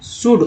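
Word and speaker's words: should: शुड, ओ यू एल D good बोलते हैं।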